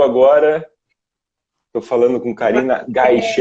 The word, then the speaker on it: Gaichi: Quem chegou agora, estou falando com Karina Gaiche. É assim mesmo a pronúncia, Karina? Gaiche? Gaishi.